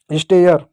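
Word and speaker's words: stare: आपको होगी य कहाँ से आ गया, नियम ही बच्चों कि ए के बाद अगर आर ई हो, ये साइलेंट होगा और ए का उच्चारण ए के रूप में हो जाएगा।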